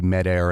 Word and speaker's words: Medair: and then maybe that leads us in into med air and and what medaire's um is that how